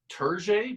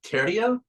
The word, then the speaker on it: Terje: But who they have now, which is his name is it looks like Terje, but it's Teria is how you pronounce it, Teria.